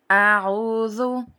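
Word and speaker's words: أعوذ: کے ساتھ سورہ فاتحہ۔ اعوذ، دیکھیں پہلے حمزہ ہے اور پھر اس کے بعد عین ہے، تو دونوں کی شکلیں الگ الگ ہیں تو ان کی آوازیں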